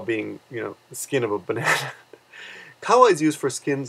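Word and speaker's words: バナナ: I mean, I've never met a girl named Banana, but if you do pronounce banana in Japanese, it would be banana. Banana. And I said yesterday banana, right, which is a little bit different.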